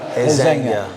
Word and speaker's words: resenha: Resenha. Resenha is spelled R-E-S-E. Now N-H-A. N-H-A in Portuguese, which is a little bit different. It's called nha. Resenha. In Spanish, it'll be resenha. In Portuguese, it's resenha.